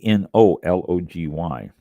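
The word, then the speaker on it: oenology: That's E O N or E N O L O G Y.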